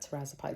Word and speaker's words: tirzepatide: I always say it wrong. I think that tirzepatide is how you say it.